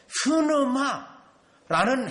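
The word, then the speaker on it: πνεῦμα: 또 여러분, 이 성령을 말할 때 흐느마라는 헬라어라는 용어를 쓰는데요, 발음하기가 숨을 내쉬어야 돼요. 그 단어 자체가. 그래서 성령님을 의미하고 있는데, 그러면 그때 오셨는가?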